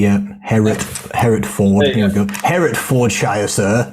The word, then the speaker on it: Herefordshire: How do you spell your county's name, Herefordshire, as you pronounce it? I'm going to show this up on a map now. H-E-R-E. H-E-R-E, yeah. Hereford. Here we go. Herefordshire, sir. Oh, yes. No T.